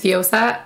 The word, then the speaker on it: Viola: name is viola or for some of you who don't know how to say my name my name is viola I have been wanting